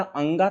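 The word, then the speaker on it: ङ: ये अंगा है बेटा, ये ध्यान रखिएगा, ये ड नहीं है। क्या है? अंगा है। अंगा यहाँ बिंदी लगी हुई है तो इसे हम अंगा पढ़ते हैं।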